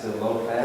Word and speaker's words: Zelophehad: Zelophehad.